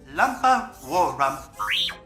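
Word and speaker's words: Lumpawarrump: Their true pronunciation is Malatubak, Itchy Cheetuck, Lumpa Warrum.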